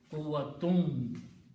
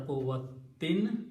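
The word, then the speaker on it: قُوَّةٍ: Okay, and then in the pronunciation there is a vav after that, so you pronounce quwwatum instead of quwwatin, quwwatim.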